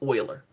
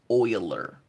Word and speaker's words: Euler: right here this is oil er it's not perhaps you'll learn its oiler that's how you pronounce it oiler is arguably one of